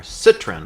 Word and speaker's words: Citroën: PSA is a European company, which is Peugeot and Citroën, or Citroën, I guess if you're in the UK, that's how you might pronounce it.